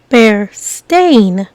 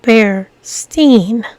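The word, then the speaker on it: Berenstain: t a i n is uncommon people often mispronounce and misread be stain as be Steen after hearing and seeing this people misremember the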